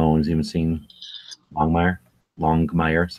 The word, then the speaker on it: Longmire: Longmire, that's how it's pronounced.